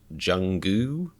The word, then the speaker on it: Jungkook: in honor of uh jungkook or apparently you're supposed to pronounce his name like jungu but that just sounds like saying the word goo to me i i don't know